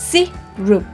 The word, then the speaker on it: syrup: สิ รุป นะ คะ ออก เสียง ว่า ซิ รุป ซีโร่ ไม่ ใช่ syrup นะ คะ สิ หลุด